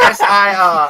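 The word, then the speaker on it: Ser: And it's S-E-R too. It's not S-I-R.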